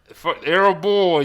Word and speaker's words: Erhabor: Erhabor? Erhabor is my first name.